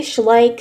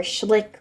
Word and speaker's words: Schleich: to you and kind of showing you my Schleich figures. I say Schleich, some people say Schleich or Schlick or I don't know.